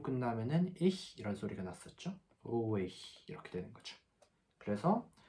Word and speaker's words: ruhig: 방금 앞에서 말씀드렸듯이 하 앞에 모음이 붙으면은 이 소리는 이제 묵음이 되고 모음의 소리가 길게 나게 됐죠. 그러면은 오 이렇게 되는 거죠.